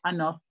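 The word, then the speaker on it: un œuf: Si dicen huevo, un huevo, ahí sí se pronuncia la F. Se dice anor.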